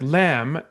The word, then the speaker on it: lamb: at a word like lamb, Lamb, and then having to talk about what that B does. That B is silent.